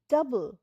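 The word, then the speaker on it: double: পরেরটা হলো ডি ও ইউ ডি এল ই ডাবল ডাবল এ O silent ডাবল মানে দ্বিগুন প্লিজ গিভ মি ডাবল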